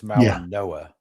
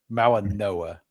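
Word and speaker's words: Mauigoa: So like it's weird cuz it's cuz it the the G has an N sound. So it's Malauga Noa. Malauga Noa.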